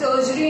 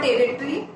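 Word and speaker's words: tertiary: Students, the pronunciation is टर्शरी, इट इज नॉट टेरिटरी, ऐसा नहीं है, इट इज टर्शरी industry. टर्शरी industry, as I told you, it is all about services.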